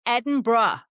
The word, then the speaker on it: Edinburgh: I mean, different accents obviously do come into play, but you do not pronounce every letter of this word. It is not phonetic. It's bruh at the end.